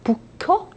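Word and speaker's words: 佛教: 동국대학교 일본 북해대학교 북호대학 북효 그 불교를 일본식 발음으로 하면 북효가 되거든요 사이에 교환 그 저기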